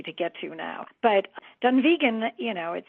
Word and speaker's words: Dunvegan: It's Dunvegan and then the other castle is Elon Donan. So, um, that's that's how it's pronounced.